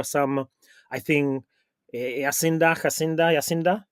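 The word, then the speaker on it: Jacinda: Yasinda is correct pronunciation of your prime minister.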